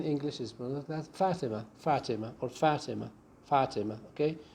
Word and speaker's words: Fatima: is one of that fatima fatima or fatima fatima okay so it's like fat and emma fat and emma i'm